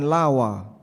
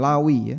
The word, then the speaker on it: Lawi: Intinya ee dia termasuk di antara keturunan Lawa atau apa bacanya? Lawi ya.